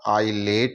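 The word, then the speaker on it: islet: आई एस एल ईटी यहां भी आई और एल के बीच में एस आ रहा है तो यहां पर भी एस का उच्चारण नहीं होगा आई लेट ही हम इसका उच्चारण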